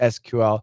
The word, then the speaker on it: SQL: ama is really cool who decides sql pronunciation that way it's just the standard it's just the standard it's the stan that's just what everybody does the standard is sql it's appropriate in a professional situation the professors that teach